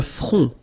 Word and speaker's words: front: Le front. Final T not pronounced. Le front. Okay, remember this nasal on, on.